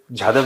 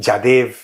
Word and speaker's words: जाधव: दूसरी चीज यह है कि अगर पाकिस्तानियों के पास प्रूफ है वो नहीं कि हमने कुलभूषण जादेव जाधव नहीं बोल पाते पता है जादेव जादेव जादेव बोलते हैं पाकिस्तानी ना दे कांट